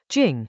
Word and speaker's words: 精: Within the formless there is Chinese letter, jīng, a word that carries the sense of essence, of something refined and vital, the fine-grained stuff that underlies coarser appearances.